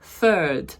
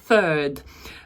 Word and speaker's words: third: третій урок по числівниках І отут це тяжко вимовити The Third бачите The артикль TH і знову ж іде повторення Third Там трошки тяжко нашим українським язикам вимовити we will have The Third